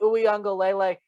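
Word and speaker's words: Uiagalelei: for the clemson tigers dj uengalele yes this how you say that name you can rewind if you want to learn how to pronounce it uh here you go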